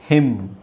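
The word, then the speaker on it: hymn: ಇದೇನಾಗುತ್ತೆ ಅವಾಗ au ಆ ಟಮ್ atom atom ಇದು ಹಿಮ್ ಹಿಮ್ ಇದು ಕಾ ಲಂ ಕಾಲಂ ಕಾಲಂ ಇದು ಸೋಲಂ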